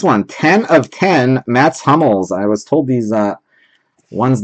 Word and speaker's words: Hummels: You got yourself a 10 of 10, Mats Hummels. I've been saying Hummels. I've been told I need to be pronouncing it Hummels. Nicht Hummels, Hummels.